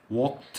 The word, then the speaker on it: walked: walked قبلها كي هتنطق تي برضو، او ليه walked.